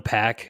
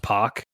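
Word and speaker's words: Pak: So you got John, here's one, John Pack. It's actually pronounced Pock. So they put P-O-C-K in parentheses, rhymes with rock.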